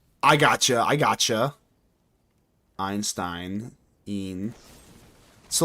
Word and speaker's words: Einstein: If you're reading German and there is an ei or IE situation, just pronounce the second letter and ignore the first. Like Einstein. I gotcha. I gotcha. Einstein.